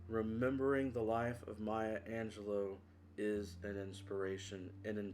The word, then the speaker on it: Angelou: I was delighted to hear her pronounce her name as Angelo and not Angelou.